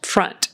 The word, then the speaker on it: front: Front is like a short U sound. Front. It's not O, not front.